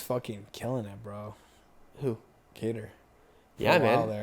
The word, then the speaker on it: Qatar: Is it Qatar? We should do a full episode of just him pronouncing fighters' names. Qatar's a place in the It's a country. UAE. It's a country. So it's Cater.